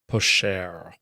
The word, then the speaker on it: Pochard: Your friend, the patronal Pochard? Picard? Pocard? I don't know how to say that word. Sly duck. Picard is a type of duck. Yeah. Is it pronounced Picard? Captain Pochard. Pashard. Oh, okay. Pashard.